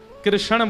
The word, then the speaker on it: कृष्ण: ठाकुर जी का नाम लोग अधिकतर कृष्ण शब्द का उच्चारण गलत करते हैं। कई लोग कृष्ण कहते हैं। कई लोग कृष्णा बोलते हैं। कई लोग कृष्ण बोलते हैं। बहुत उच्चारण उसका शुद्ध नहीं कर पाते। शुद्ध उच्चारण कृष्ण जय वृंदावन कृष्ण तामत